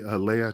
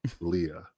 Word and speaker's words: Leia: So, when teachers call her, hey, Leia, no, it's Leah. It's spelled the same fucking way.